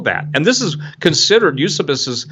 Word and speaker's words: Eusebius: and this is considered use abysus and some people pronounce Eusebius but use abyss is one of the